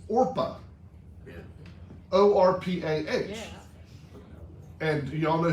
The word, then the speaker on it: Orpah: the official story that people could never pronounce her name and they kept getting it mixed up and they called her oprah instead of orpah her mother named her